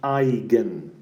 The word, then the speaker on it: eigen: eigenvalues and eigenvectors so this word eigen is actually a German word and it means cells and it's pronounced I again and somehow this name